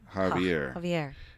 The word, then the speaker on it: Javier: J is pronounced with an H.